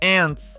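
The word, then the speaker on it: aunt: No plural, a forma é ants, que significa tias. Elas são as irmãs dos seus pais ou de suas mães. Quantas tias vocês têm? Essa palavra soa como ant, como na palavra entrar. Repitam: ant.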